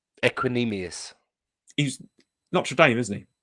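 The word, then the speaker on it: Equanimeous: Equinemius.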